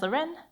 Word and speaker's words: Larene: past and present so my name is Loren pronounced luren um I'm a software